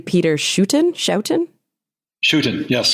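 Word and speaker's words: Schouten: it but it was illustrated by am I pronouncing his name correctly Peter shuen shoutin chutin yes chutin and it's just stunning these Natural History illustrations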